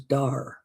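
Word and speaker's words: Deuih: They're referred to as DAR, but it's spelled D E UI H.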